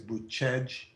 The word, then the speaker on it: Bucegi: This area is in the way you say it is Buscegi.